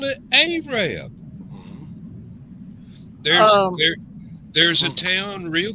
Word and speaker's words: Arab: there is the town spelled Arab. Arab. No, don't you dare call it that, Why? because they'll correct you. It's like Lafayette and Lafayette, world of difference. In Alabama, Yeah, it's Arab. That's how they say it.